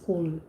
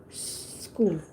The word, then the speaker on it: school: you would say it's cool so two syllables it's not two syllables it's only one it's school okay now i mean